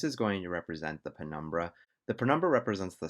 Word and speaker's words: penumbra: earlier in the video i said the term prenumber this is incorrect it's actually pronounced penumbra so in this example i'm going to use